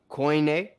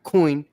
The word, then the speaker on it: Koine: So it's not coin or kun, it's koine.